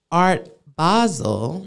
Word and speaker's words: Art Basel: So for instance, Art Basel, because that's the correct pronunciation, is December 1st through the 3rd.